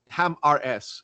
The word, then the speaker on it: Ham RS: Then came hammers or actually ham RS is the the right way to pronounce it I've learned which opened the the door to it.